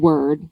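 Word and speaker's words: wyrd: that word the word word word w y r d has come up both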